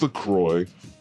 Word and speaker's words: LaCroix: I'm not sure how to pronounce this. LaCroix? It's LaCroix. LaCroix. Okay, good.